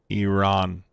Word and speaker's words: Iran: Iran is how you pronounce it.